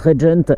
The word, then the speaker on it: RGNT: Aujourd'hui Alexis me fait l'immense honneur de me mettre à disposition une RGNT, c'est une marque suédoise, ça se prononce Regent.